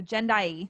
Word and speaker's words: Jendayi: So Jendayi, that's how you pronounce it, right?